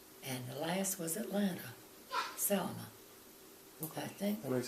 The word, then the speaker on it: Selma: state, beginning with S, a little town called Selma.